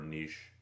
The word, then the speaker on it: niche: guy in a different niche or niche i prefer niche because quiche isn't pronounced kitsch anyhow in a different